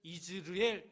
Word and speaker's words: 이스르엘: 히브리어로 이걸 발음하면 사실 이즈르엘 이렇게 발음을 하는데 이 뜻은 하나님께서 뿌리신다 이런 의미를 가지고 있습니다.